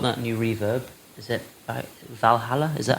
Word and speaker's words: Valhalla: what I bought that new reverb is it Valhalla is that how you pronounce it yeah Valhalla Valhalla I got their vintage reverb boys making